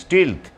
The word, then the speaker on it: stealth: কথাটা স্টিলথ কিন্তু আমি বারবার করে উচ্চারণটা, বানানটা একটু, যারা আগ্রহী, আমার অনেক সহযোদ্ধা ইংরেজি বুঝতে চান, শিখতে চান আরও ভালো করে, তাদের উদ্দেশ্যে বলি স্টিলথ, STEALTH, স্টিলথ। কথাটা স্টিল থেকে এসছে, চুরি